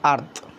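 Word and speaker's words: earth: এখানে দেখো সোজাসুজি সেই ইটা দিয়ে দিয়েছে ই আর টি এইচ আরথ ইটা আমরা কাটা দিলাম টিটা আমরা কাটা দিলাম শুধু সরি ই কাটা দিলে হবে না এই ই আর এ ই আর এ উচ্চারণ হবে আ এই ই আর এর উচ্চারণ হবে কি আ এর মতন উচ্চারণ হবে তাই সহজ আমরা বুঝতে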